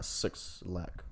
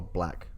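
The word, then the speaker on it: 6lack: By 6 Lack or Black. I think that's how you pronounce it. Is Black, but yeah, it's 6 Lack.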